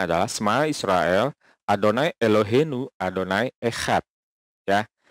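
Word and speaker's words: שמע ישראל: Nah, dua kata yang pertama ini adalah bacanya adalah Shema Israel ya.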